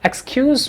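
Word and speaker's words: excuse: Fail यूज़ करते हैं तो इसका प्रोनाउंसिएशन जेड के साउंड के साथ होता है। हम इसको ऐसे बोलते हैं एक्सक्यूज़ मी, एक्सक्यूज़ मी।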